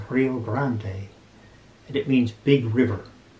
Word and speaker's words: Rio Grande: a spanish name rio rio grande in spanish would be pronounced rio grande and it means big